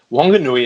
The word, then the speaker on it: Wanganui: And on the west coast of the North Island, Wanganui is pronounced with the w, as in whistle, rather than the f sound.